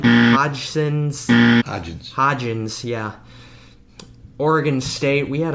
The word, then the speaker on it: Hodgins: we went back to wide receiver with Isaiah Hodgson Hudson's hodgins yeah Oregon State we had a hard names